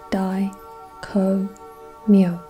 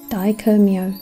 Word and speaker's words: Dai Ko Myo: Note the pronunciation of the symbol name, Dai Ko Myo, not Myo, Myo.